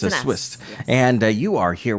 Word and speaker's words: Swist: And I always want to put an F in there, but it's an S. It's a Swist.